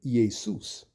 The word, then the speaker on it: Iesus: The word there would have been Iesus. That's the correct Greek pronunciation. Iesus.